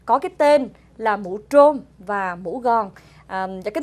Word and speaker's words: trôm: Bắc thì đọc phát âm chữ T-R không rõ. Dạ. Nên người Nam thì họ gọi cái mũ trôm là T-R, trôm.